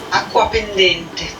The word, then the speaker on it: Acquapendente: The next beauty, we've got an 1815 letter from Aquapendente to Bagnoria. Alrighty, let's look up how to say this. Acquapendente.